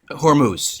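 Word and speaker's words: Hormuz: straightest Handis or Hermandis or how do you pronounce that? Hormuse.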